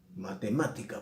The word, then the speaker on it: matemática: Matemática, por ejemplo. Digo matemática. Es esdrújula, lleva acento.